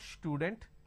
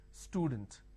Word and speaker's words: student: For example, if I have the word which is student, a lot of people make a mistake and they pronounce this with a sh. Student. It's not student, it is student.